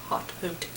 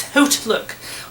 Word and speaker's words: Hautelook: I always pronounce it wrong. Hoot. It's Hautelook. Hautelook is a flash sale site that is affiliated with Nordstrom's Rack.